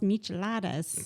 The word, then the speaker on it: michelada: So at the end, and I don't like the taste of beer, but I had one of those micheladas Yes, you right did.